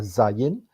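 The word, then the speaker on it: זין: zayin ya hurufnya dan cara pengucapannya adalah zayin dan kemudian em Angka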